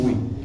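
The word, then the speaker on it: Oei: Ui. Iya, bacanya Ui Tiong Ui. Ejaan lama, Ui. Bukan, memang harusnya bacanya Ui karena aksen kantor.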